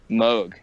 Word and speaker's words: Moog: Is it pronounced Moog Sense or Moog Sense? Moog. It's Moog, Moog. yeah. That fucking Yeah. that blows my goddamn mind. I've been saying Moog my entire life.